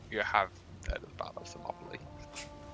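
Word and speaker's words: Thermopylae: Yeah, you you have the battle of Samopoly. How is it pronounced? Themopoly.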